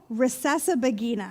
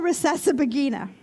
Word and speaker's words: Rusesabagina: I'm going to check my notes here because his name is Paul Rusesabagina. I'm going to say that again because I worked really hard to be able to say it properly. Paul Rusesabagina.